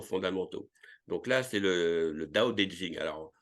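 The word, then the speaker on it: 道: donc là c'est le DAO le D en chinois se prononce entre le D français et le T français donc c'est un peu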